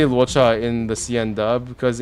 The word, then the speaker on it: Luocha: That's how they pronounce Luocha in Japanese. 为什么怪物会说话？ It actually is. They actually do try to make it sound like Luocha, but it's a different transliteration. So Luo gets translated into Ra, and Setsu is Cha.